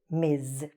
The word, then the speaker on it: Ms: is married or not and the same with miz okay this is how we write it this is how we pronounce it let's go to the next pair